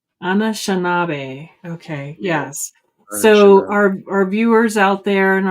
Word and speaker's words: Anishinaabe: So I'm going to pronounce this wrong. Anashibi? No, that's not the name of the school. Anashiba? Anishinaabe. Anashinabe. Okay. Yeah, Yes. So Anishinaabe.